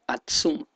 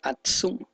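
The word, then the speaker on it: עצום: Entonces, el decir más fuerte, la concordancia es el H6099, el cual se pronunciaría en el hebreo algo por el sentido de Atsum, y pues vemos la conexión con Aksum, Etiopía.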